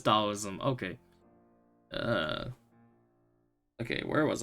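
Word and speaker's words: Taoism: me all right so how do we pronounce that oh CU talism is dollism okay uh okay where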